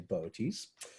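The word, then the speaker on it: Boötes: Bootes the herdsman and you spell that bo2 yes I know that funny but you say boaties and I said herdsman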